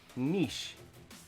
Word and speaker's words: niche: like folks just it's like quiche but with an n niche people don't know how